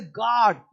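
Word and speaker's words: guard: जैसे यू है साइलेंट तो इसको चौकीदार गार्ड है जी यू ए आर डी जी यू ए आर डी यू रहेगा साइलेंट लेकिन बोलेंगे गार्ड लिखेंगे जी यू ए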